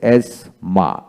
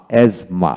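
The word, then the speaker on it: asthma: যে শব্দ যেমন এস এজমা এজমা হাঁপানি রোগ এখানে এস টি এইচ এম এজমা মাঝখানে টিএইচ উচ্চারিত হয় না এজমাটিক এজমাটিক এজমাটিকালি তারপরে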